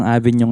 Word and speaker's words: AVN: makikita niya siya like you can type avn Like what you can see here avn coffee pero it Ano ang pronounce niya is Avenue pa din o Syempre Syempre kapatid